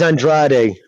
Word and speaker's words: Andrade: The correct way to say it is Andrade. The correct way, like they would say it amongst the Portuguese, would be Andrade.